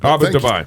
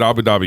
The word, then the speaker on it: Abu Dhabi: Dhabi in real world Abu duai thank you Abu duai that's how they say it over we Americanized it and said Abu Dhabi no hey uh in